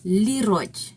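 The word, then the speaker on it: liroj: Thus ano has a lero. I guess they change it to lero lero because is it's spelled l i r o j. Lero is how they translated it.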